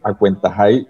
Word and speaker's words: Acuentajay: Hoy hay luna llena En términos generales, el Festival Internacional de Cuenteros Acuentajay se lee Acuentajay y se escribe Acuentajuy porque es Wayunaiki.